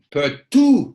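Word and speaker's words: peux-tu: Peut-tu comprendre, because we don't pronounce the T at the end of a word. Peut-tu comprendre. Voilà, because if there's no vowel there, we don't hear the second T there. So it's tu.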